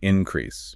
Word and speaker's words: increase: When the word acts as a noun, the stress falls on the first syllable, like increase, right?